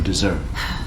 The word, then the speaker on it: dessert: 자, 일단 얘는 발음 기호가 다른 것도 있고요. 또 하나 가장 중요한 건 강세가 다르다는 거예요.